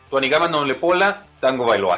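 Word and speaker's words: Tuanigamanuolepola Tagovailoa: Tuanigama Noulepola Tagovailoa, así se pronuncia y por eso mejor de cariño entre cuates le decimos Tua.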